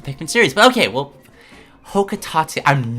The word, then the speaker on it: Hocotate: It's pronounced... what? Hocotate? I know there's been debate over this, but he says it out loud in Pikmin 3. Can't ask for much more confirmation.